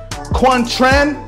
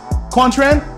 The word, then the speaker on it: Quang Tran: video to my boy quan tran jimmy say his name kwon tran yeah some like he's